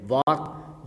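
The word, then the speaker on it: walk: वाक, यहाँ पर L silent है।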